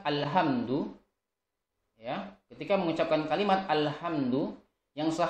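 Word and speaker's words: الحمد: jadi kamu ucapkan kalimat alhamdu lillah harusnya dengan hak kecil alhamdu adalah segala puji bagi Allah tetapi ada beberapa orang yang membacanya dengan alhamdu lillah besar ya dengan hak besar alhamdu lillah Angelia karena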